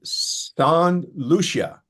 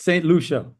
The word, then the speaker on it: St Lucia: Nick is sitting in St Lucia in the Caribbean islands. Did I get that pronunciation reasonably correct? Well, you're in the neighborhood there, Glenn. It's St Lucia, but we'll St Lucia.